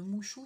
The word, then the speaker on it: Muxu: Mais je vais vous l'écrire en description parce que Mouchou, ça s'écrit M-U-X-U.